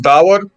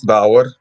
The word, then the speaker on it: Davor: So, my name's Davor. That's how you say it, Davor. D-A-V-O-R. I had a job with Americans, and they had trouble with my name, so that's why I'm saying it a lot, Davor.